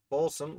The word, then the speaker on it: Folsom: is actually pronounced sinclair folsom folsom like the prison uh morris we just